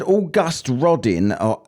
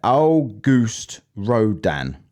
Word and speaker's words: Auguste Rodin: And this person said August Rodin, and he just, because I couldn't say that word. I couldn't say that name, could I? And he's told me how to say it. Auguste Rodin.